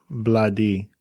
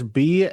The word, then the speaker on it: Bledi: But my problem is I need you to tell me about Bladi. And did I say it right? Oh, wow. Bloody. Wow. Bladi. Yeah, bloody. First of all, that is Bledi.